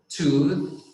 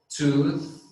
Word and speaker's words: tooth: you look at me if you look at my face when i'm pronouncing it you're going to see that my tongue goes south right when i say for example the word tooth tooth teeth teeth so my tongue goes out like a rockets is thank